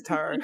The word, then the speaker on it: tarot: As an avid tarot reader, it is tarot.